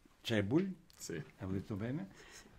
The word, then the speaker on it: Cebulj: Subito una domanda, la pronuncia corretta del nome, perché ci sono diverse correnti di pensiero. Clement Sebul. Ecco, Sebul.